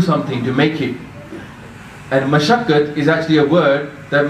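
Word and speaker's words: ਮਸਕਤਿ: The reason we all need to learn how to pronounce Gurbani is because this word up there says Maskat. Yeah? So you can't say Maskat because it's not Maskat, it's Mashakkat.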